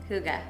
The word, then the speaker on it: hygge: So it's a Scandinavian Swedish word that's spelled Hygge, but pronounced Huga.